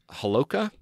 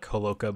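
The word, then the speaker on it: Holowka: by the name of Alex halakhah am i pronouncing that correctly they said it's alec Homolka but yeah Alec who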